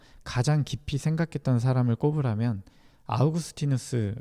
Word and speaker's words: 아우구스티누스: 깊이 생각했던 사람을 꼽으라면 아우구스티누스 라고 하는 사람 을 꼽을 수 있어요 영어 발음으로는 업 어스틴 으로 여러분에게 알려졌을 텐데요 아마 그 이름이 더